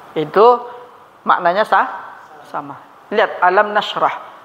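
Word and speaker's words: نشرح: Lihat alam nashrah. Bagaimana cara baca nashrah? Dengan sukun apa tidak? Bukan alam nashrahu kan?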